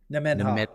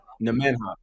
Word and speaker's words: Nemenhah: Nemenhah. Nemenhah.